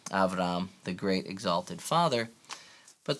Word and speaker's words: Avram: son, and that's all contained in Abram's name, Avram, the great exalted father.